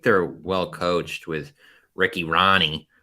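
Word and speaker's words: Rahne: So I think they're well coached with Ricky Ronnie, which I always think should be like Rain or something with how it's spelled, but then people say it and I'm like, oh, weird.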